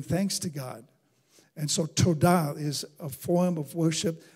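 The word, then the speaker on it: תודה: that is defined as Thanksgiving is the word toda tio W da h is pronounced toda so and it actually means the lifting of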